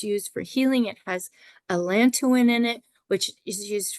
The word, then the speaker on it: allantoin: It has allantoin in it as well, and it may be pronounced allantoin, but I say allantoin.